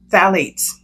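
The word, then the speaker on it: phthalates: that word number eight the pH is silent phalates phalates again is a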